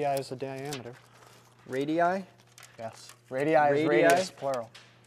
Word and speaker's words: radii: Radii is plural. Radii? Yeah. Three syllables.